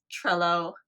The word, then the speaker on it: Trello: I made fun of myself because I totally butchered the name. Freeglue? It is Trello, and I called it Trello because I'm an idiot sometimes with words.